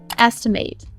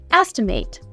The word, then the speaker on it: estimate: Estimate. to guess or calculate the cost, size, or value of something. As a verb, this word is pronounced estimate.